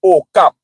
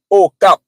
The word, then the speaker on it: Okap: ok a k a but in my language a pronounce as a a pronounce pronounced as a that's why we said okap you see a pronounce